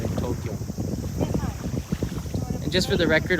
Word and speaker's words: Tokyo: had ever corrected me do you say tokyo or tokyo tokyo yeah tokyo two syllables uh for japanese we